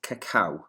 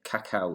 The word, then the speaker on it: cacao: today and the maya word for chocolate is cacao which is how you pronounce the word which i showed you earlier there cacao that's how it's pronounced the maya used chocolate